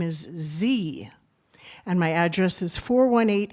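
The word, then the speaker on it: Ze: of myself and my family, my name is Z and my address is 418 East 2nd Street. I repeat that is Z. That's spelled Z E.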